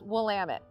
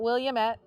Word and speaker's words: Willamette: started i want to give just a little pronunciation lesson it's willamette not williamette not willametti over the years i've heard lots of creative